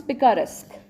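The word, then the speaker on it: picaresque: How do we pronounce it? पिकारेस्क. ठीक है, पीका से पिकारेस्क.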